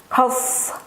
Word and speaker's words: cough: Kadang ini dibaca sebagai CH, tapi saya mengikuti yang ini dibaca sebagai KH ya. Jadi cough gitu. Cough. F kan?